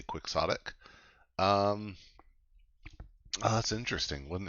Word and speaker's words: Quixotic: I always think this should be pronounced Quixotic because Don Quixote, but here a lot of people say Quixotic.